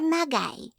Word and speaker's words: Magi: water smiled we are magy pronouncing the last word with a hard G so it sounded like ma guy we Amanda asked that's